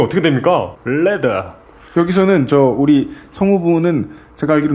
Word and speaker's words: Leather: 금요일의 히스테리 사건 파일 그것은 알기 싫다는 에브리온 TV 다 따져봐도 결론은 아로니아진 스테픈 울프 제뉴인 레터 이거 정확한 발음이 어떻게 됩니까? 레더 여기서는 우리 성우분은 제가 알기로 남아프리카 분이실 거예요.